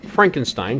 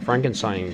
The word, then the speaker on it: Frankenstein: frankenstein i presume and dr frankenstein goes no it's pronounced frankenstein and you must be